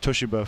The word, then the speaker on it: Toshiba: You know, I worked for Toshiba for 14 years.